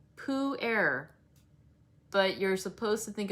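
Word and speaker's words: pu-erh: was hosting the workshop said puair which he said is spelled p-u-e-r all those times it does have an h also um he said the way to remember it is think of winnie the pooh breathing so poo air but you're supposed to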